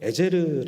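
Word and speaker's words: עזר: 돌이나 바위를 뜻하는 말이고 에셀은 정확하게 발음하면 에제르 아는 발음인데 도움을 뜻하는 단어입니다 도움을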